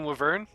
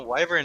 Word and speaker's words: wyvern: try to hit the right one you mean wver yeah why do you why do you pronounce it like that so pronounce wyvern W yeah wait is saying wyvern wrong yeah no no wyvern is good like right correct W is wrong